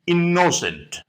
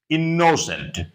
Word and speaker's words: innocent: Though double M is there or double N is there, but you have to pronounce the letter once only. You have to pronounce M once only, you have to pronounce N once only.